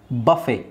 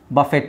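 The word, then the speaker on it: buffet: ರಾಪೋ ರಾಪೋ ಇಲ್ಲಿ ಆರ್ T silent ಆಗಿರುತ್ತೆ ರಾಪೋ ಬಫೆ ಬಫೆಟ್ ಅಲ್ಲ ಬಫೆ ಬಫೆ ಇದು ಡಬ್ ಇಲ್ಲಿ ಮತ್ತೆ ಬಾ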